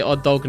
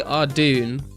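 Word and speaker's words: Ardougne: we called our see I've heard people say Ad dog before I say adun I don't know whether anyone else does but I've always said adun or ad um but because like it's such a controversial controversial word everyone just says ardy because like who the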